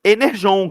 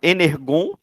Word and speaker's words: Energon: E aí o grande anúncio foi o o universo Enerjon, que eles também erraram lá, né? Falaram Energon. Aí é um, eles não escutam o